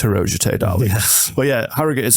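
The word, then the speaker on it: Harrogate: and nasbro um or hero as it's correctly pronounce yeah people go oh do you mean hogate I'm like no it's hero but yeah har is you're not saying gate prop it's part of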